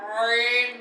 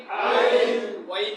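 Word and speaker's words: ع: গলা চাপ দিয়ে, গলার মাঝখান থেকে সবাই কান চেষ্টা করেন, চাপ দিয়ে বলেন আইন, আইন, আইন, ওয়াইন না, আইন, আইন, হা, হা, গলার কোনখান থেকে?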